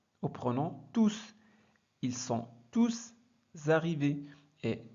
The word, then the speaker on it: tous: l'examen faites attention ici quand tout est un pronom et bien on prononce s ils ont tous réussi l'examen c'est bon